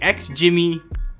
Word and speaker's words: XGIMI: guess you can ladies and gentlemen meet the ex jimmy elfin a small projector that packs a pretty